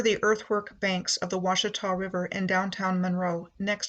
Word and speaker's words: Ouachita: My starting point is Monroe, the parish seat of Louisiana's Ouachita, pronounced Washita, Parish.